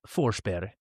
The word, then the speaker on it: Forsberg: So Berg is like it sounds more like berry. Yeah. So his name in Swedish would be Philip Forsberg.